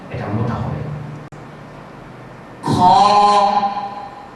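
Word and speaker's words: خ: এই হরফটির নাম বলছি এই হরফটির নাম হচ্ছে খ স্বাভাবিকভাবে এই হরফটি অন্য হরফের চেয়ে মোটা আওয়াজ মোটা হবে আমি আবারো উচ্চারণ করছি আপনারা সবাই লক্ষ্য করুন খ বন্ধুরা আপনারা দেখছিলেন এই হরফটি উচ্চারণ করতে আমার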